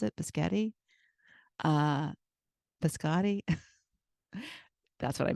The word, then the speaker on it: biscotti: Is that how you pronounce it? Biscotti.